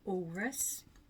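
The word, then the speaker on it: Alrewas: I've just come back from Walrus. I've decided that it must be how you pronounce it. Like walrus, it's almost like it's got a silent W in the middle.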